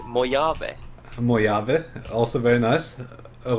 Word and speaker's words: Mojave: So in the meantime, how would you pronounce the name of the map? Is it Mojave or is it Mojave? Please, put some jalapenos on that pizza. You got it. It's definitely Mojave, no doubt about it.